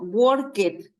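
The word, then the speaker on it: worked: drum Beat becomes helped fijan en esto yo escribo worket pero como tiene sonido de T la unaí la d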